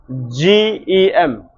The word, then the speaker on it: gem: ahead of G it sounds J. Example Example How do you pronounce this? G E M We pronounce this as gem.